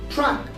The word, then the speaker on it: truck: is also silent here one more example is the word truck so trunk is still as t r u c k so this is a rule and rules tell us